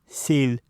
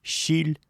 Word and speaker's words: силь: Во всех других случаях, в том числе перед «и» с точками, эти буквы произносятся как «с», «з», твердые. Например, силь – мясо, зибыт – тихий. Еще раз. Силь, зибыт. Для таких случаев и используется «и» с 2 точками. Если бы здесь стояло простое «и», то эти слова читались бы как «щиль», «жибыт».